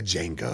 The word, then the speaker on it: Django: At least he pronounce it right. Everybody the Jango.